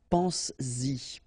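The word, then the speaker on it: penses-y: this pronoun after, then you will have to put back this S just to produce it orally, because you will pronounce it pense-y, pense-y, okay? Pense-y, all right? So you get to make this liaison.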